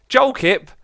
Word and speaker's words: Jolkip: Jolkip, I mean, okay, it's actually pronounced like that. UKIP party with an L in the middle.